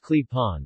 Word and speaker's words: klepon: clapping pronounced clip-on or owned owned pronounced